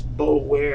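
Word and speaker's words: Boulware: Yeah, I spell it It's It's Bowler is how it looks. b o u l w a r e You said a Terrell Bowler or a Bowler?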